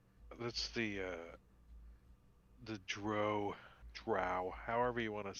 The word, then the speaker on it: drow: says and he says he says it rhymes with cow I go with uh what the author says and he pronounces a drow how do you guys